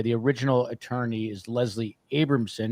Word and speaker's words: Abramson: original attorney is Leslie Abramson he kept calling her abrahamson because she spells it with h unless you changed the pronun pronunciation of her name but um Joe uh